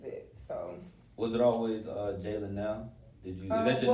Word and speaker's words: Jalynelle: People say it so wrong. You know what I mean? They get to Janelle. I think it's Jalynelle.